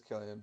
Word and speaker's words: Cillian: Yeah, it's Killian, but I think.